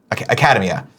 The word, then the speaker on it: Academia: Academia.